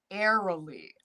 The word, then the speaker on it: Arle: So Arle says it's a little like the end of row, row, row your boat, but without the M, like airily.